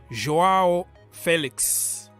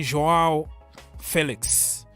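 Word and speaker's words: João Félix: let's start by uh joao Felix that is the way you pronounce his name in Portuguese because he corrected everybody and said you have to call me joao Felix Nippon my brother nice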